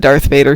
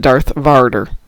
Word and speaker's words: Darth Vader: Oh, Cliff says, I watched a documentary about Star Wars made by the BBC, and every time the presenter said Darth Vader, he would pronounce it Darth Varder.